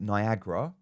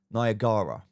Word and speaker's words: Niagara: Some people call it Niagara. It's actually pronounce Niagara.